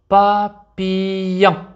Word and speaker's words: papillon: un papillon. لاحظوا L. اثنان L لا نقرأها لا، سنقرأها كحرف الياء. papillon. que.